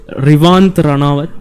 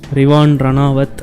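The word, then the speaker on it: Rivaan Ranawat: Rivand Ranawat my bad like I always pronounce his name as Rant Ranawat but yeah that guy is not Rivant Rean R I V W I A N Rean Ranawat and uh he is a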